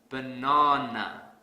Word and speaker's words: banana: So to fix this, I will stress the second syllable really hard. Banana, banana.